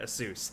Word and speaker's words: Asus: Asus I know people make fun of me but I literally asked the company they that's how they say it but the newest thing